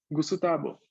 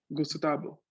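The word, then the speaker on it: グスタボ: Y el sonido V de por sí no existe en japonés, existe el sonido B, ¿no? Con la B labial cerrada. Entonces, tenemos aquí, ¿no? Que mi nombre quedaría, un japonés lo pronunciaría, Gusutabo. Gusutabo. De esa forma, ¿no? Con 4 sílabas en vez de 3.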